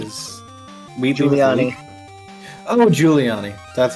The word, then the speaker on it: Giuliani: Weelani is... Giuliani. Oh, Giuliani. That's how you Yeah, pronounce it.